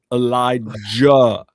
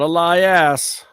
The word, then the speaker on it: Elijah: Say it right. Elijah. Not Elias ass. We don't know an Elias ass. That's an Elijah.